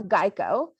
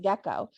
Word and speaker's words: Geico: happened to start was people were mispronouncing geico and calling it gekko so instead of correcting